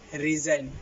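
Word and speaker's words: resign: পাঁচ নাম্বার নিয়মটি হচ্ছে শব্দের শেষে আই জি এন থাকলে আই জি এন এর উচ্চারণ হবে আইন এক্ষেত্রে জি এর উচ্চারণ অনুচ্চারিত থাকবে যেমন ডি এস আই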